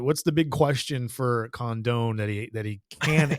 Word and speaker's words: Condon: Georgia outfielder here um I've heard his name pronounced two ways Condon and condone I'm saying Condon cond Condon I've heard condone